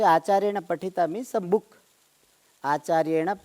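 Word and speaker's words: आचार्येण: Acharye na.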